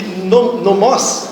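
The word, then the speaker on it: νόμος: Oikos significa casa, e nomos seria a pronúncia, ou nomos, não sei, a pronúncia, que seria lei.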